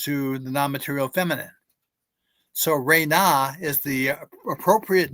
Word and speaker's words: Ren: Budge considers that to be the divine name, and he pronounces it Ren. But I know from my comparative studies that the proper cosmological syllables are Re-Na.